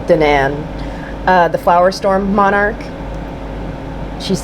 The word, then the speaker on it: Danan: Danan, I think Danan is how you pronounce it, not Danon, like the yogurt, but Danan.